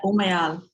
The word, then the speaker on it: Umayal: Did I pronounce that right? Yeah, Umayal. Umayal.